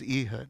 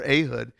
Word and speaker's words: Ehud: deliver and he gives eood or ahood however you want to pronounce it eood over them